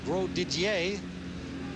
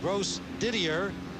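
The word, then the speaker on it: Grosdidier: name it's g-r-o-s-d-i-d-i-e-r and it hurts me badly with a little bit of school book French to not pronounce that bro Didier but it's gross Didier in St Paul Kansas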